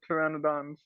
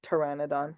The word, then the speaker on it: Pteranodon: that yes right the pteranodons although the uh p is silent it yeah because they don't have because the p is silent so it's Pteranodon sounds like Pteranodon but it's yeah but